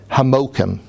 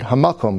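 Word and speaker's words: המקום: And there are certain words, but one of them is very interesting, because the Yidden called Amsterdam Hamokim. That's how they pronounce it. It means the word Hamakom, right?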